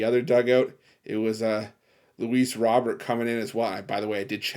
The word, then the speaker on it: Luis Robert: Dugout it was uh Luis Robert coming in as well by the way I did check the pronunciation on the name I've seen in multiple places it's Louise Robert again I'm not going